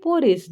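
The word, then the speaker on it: porridge: किसके, पोरिस. डी यहाँ पर साइलेंट है बच्चों, ठीक है. हम इसे पोरिस बोलेंगे, डी को प्रोनाउंस नहीं करेंगे.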